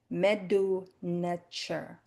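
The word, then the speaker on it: Medu Neter: It's pronounced Meduneter. Meduneter. Some people say Meduneter.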